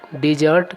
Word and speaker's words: dessert: और एक अन्य वर्ड होता है, वह होता है DESSERT और उसका उच्चारण भी होता है डिजर्ट। तो डिजर्ट का अभिप्राय होता है खाने के बाद जो मीठा खाया जाता है उसको डिजर्ट कहा जाता है।